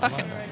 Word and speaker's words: Buchan: Cameron, do you want to pronounce the surname again? Buchan, I think we can practice with you. I like that. Buchan. Buchan from Strathclyde Rowing Club in the Diamond Challenge Sculls.